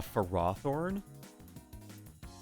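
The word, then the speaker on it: Ferrothorn: don't need it a for raw thorn snake that is the way you're supposed to pronounce it that is the dumbest way to pronounce the name why is it not pharaoh thorn we have ferromagnetic materials i don't tell you it's it that's the official way is for roththorn dude the official way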